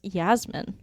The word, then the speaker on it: Jasmine: fur okay so Jasmine it should actually be pronounced Yasmin Yas mean just me jaws or no you're